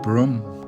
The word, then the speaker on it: Brougham: Brougham Castle, guys, is pronounced Brougham Castle.